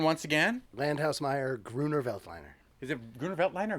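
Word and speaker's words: Grüner Veltliner: This is Julian, the French winemaking guy who makes wine videos, and we are looking at how to pronounce the name Gruner Veltliner. Gruner Veltliner.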